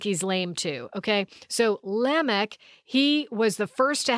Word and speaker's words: Lamech: seventh one from kane his name is lamech or you might pronounce that lamech i've heard it a couple different ways i think biblically with the semitic languages it's lamech but if you want